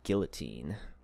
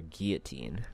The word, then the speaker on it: guillotine: all right operation guillotine or guillotine depending on how you say it some enemies will